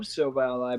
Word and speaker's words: Silvally: I love Silvally, by the way.